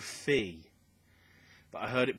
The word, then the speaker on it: Fe: think it was called Fee, but I heard it pronounced Fi and Fay, but I think it's Fee. Perhaps there's Foe and Fum.